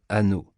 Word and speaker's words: Hanau: Hanau se prononce Hanau, c'est comme ah non.